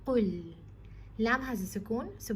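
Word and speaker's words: قُلْ: Qaf is a heavy letter, Lam is light, so you have to retain both of their properties by saying Qul.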